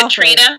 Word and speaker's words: Catriona: Catriona Balfe. Katrina? Yes. It's actually pronounced Katrina.